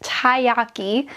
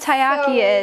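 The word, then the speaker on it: taiyaki: I believe this is pronounced tayyaki.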